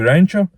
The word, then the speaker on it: Rancha: My name is basically Rancha, like ranch and chu. You can say chu or tsuhu.